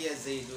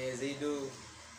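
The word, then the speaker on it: يا زيدُ: Makanya bacanya ya Zaidu. Bukan ya Zaid, ya Zaida.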